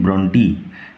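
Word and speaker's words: Brontë: আজ আমরা পড়ব class 9 lesson 6 mile the mist upon the hill by Emily gen ব্রন্টি। নট ব্রন্ট, উচ্চারণ লক্ষ্য করো, ব্রন্টি নট ব্রন্ট।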